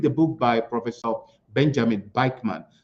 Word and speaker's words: Bikman: A long story, but if you can, read the book by Professor Benjamin Bikeman. Bikeman is spelled Bikman.